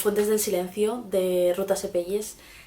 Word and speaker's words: Sepetys: El libro del que vengo a hablaros es Las fuentes del silencio, de Ruta Sepelles. Sepedis, me quedo con Sepedis, creo que se pronuncia así.